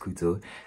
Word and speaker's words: Cootso: Tis I, COOTSO, pronounced Kuto, and welcome back to my YouTube channel.